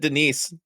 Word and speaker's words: Denis: didn't and then they didn't say Dennis they said Denise Jesus I think I